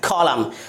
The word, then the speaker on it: column: अगला example COLUMN, कॉलम। अब हम मूव करते हैं अगले साइलेंट लेटर की तरफ, यानी L साइलेंट लेटर।